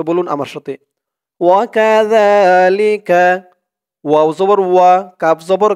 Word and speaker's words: وكذلك: ওয়াকাযা, জালের উচ্চারণটা একদম নরম পাতলা হবে, জিহ্বার মাথা উপরের দাঁতের মাথার সাথে লাগবে জালের উচ্চারণটা করার সময়।